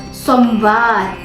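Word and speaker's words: सोमवार: atau bahasa India itu somvar somvar dia pakai v ya guys bukan pakai F dia pakai v Jadi kalian bacanya somvar bukan somvar Oke Paham ya ingat ini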